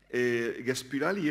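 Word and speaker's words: Gaspıralı: Gaspirali era un intelectual. Lo intento pronunciar en turco, porque sabéis que tienen esa i que carece de punto, ¿no? Y que es una especie de ü.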